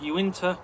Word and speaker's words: Uinta: It's pronounced Uinta County.